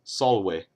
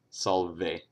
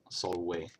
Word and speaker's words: salve: first rule is that all V's make a w sound for example the uh the Latin word for hello is a Solway which despite how they pronounce it in Rome too much to my chagrin is Solway not Salve Solway second rule is that